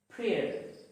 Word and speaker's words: prayer: P-R-A-Y-E-R. Prayer. Prayer. It is not pronounced as prayer, but prayer. The Y is silent. Let's take another word. M-A-Y-O-R. Mayor. Mayor. It is not mayor. The Y is silent.